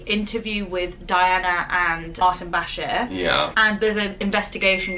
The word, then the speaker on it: Bashir: go with that yeah is it bashir i've been saying it wrong i said bashar bashir bashir i mean it doesn't